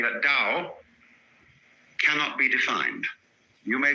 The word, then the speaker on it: Tao: We should have spelled it D-O-W, you see, but it's T-A-O.